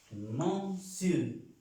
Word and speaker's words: monsieur: Señor en francés es monsieur, monsieur. No es monsieur porque no tiene la E en ninguna parte.